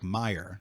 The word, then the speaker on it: Meijer: the i sound because i remember looking at it i was like oscar mir and then my mom was like meijer that's the way it's that's what like wait it's spelled and i was like oh like fred meyer mm-hmm like so that's